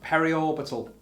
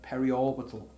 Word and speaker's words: periorbital: Okay, so I am being told off for mispronouncing it. It's periorbital, apparently, on the previous one. Periorbital hematoma.